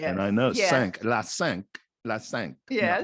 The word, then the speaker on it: cinq: So it'd be, but they don't say Cinco, they say cinq. It's not Cinco in French, right? It's Cinq de Mayo. No, sink.